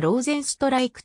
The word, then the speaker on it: Rozenstruik: 初の ufc 選手英語圏では jal ジーニョローゼンストライクと発音されるスリナムのパラマリボで